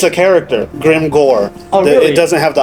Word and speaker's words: Grimgoir: How do you pronounce the last part? Uh Grimmjow or Grimmjow, you can say that.